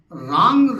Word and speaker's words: रां: पहला मंत्र छोटा सा, रांग राहवे नमः। रा ऊपर बिंदी लगी, आ की मात्रा ऊपर बिंदी, इसका उच्चारण राम नहीं है। जैसे गंगणपतये नमः बोलते उसी तरह से उच्चारण होना चाहिए, रांग राहवे नमः।